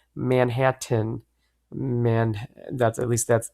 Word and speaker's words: Manhattan: in the hat tan the man in the hat tan hat bought manhattan get it manhattan man tan hat oh